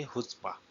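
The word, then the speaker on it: chutzpah: इसको आप क्या बोलोगे, हुत्स्पा। ठीक। इसकी प्रोनाउंसिएशन होगी हुत्स्पा। ठीक, हुत्स्पा। जो जी है, जेड है, इसकी साउंड आप एस की तरह ले सकते हो।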